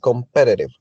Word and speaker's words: competitive: okay a competitive competitive have four four syllables and the prominent one is in the second in because it's competitive competitive is